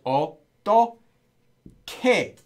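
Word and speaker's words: 어떻게: how is oh okay we just pronounced as Oh doll kay when you pronounce it they're not written that way okay so okay means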